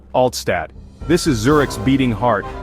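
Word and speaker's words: Altstadt: And there's no better place to start than Oldtown, or as the locals say, Altad.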